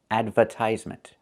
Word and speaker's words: advertisement: Americans do not pronounce this word advertisement. Advertisement. It's advertisement. We need that sound like in burger.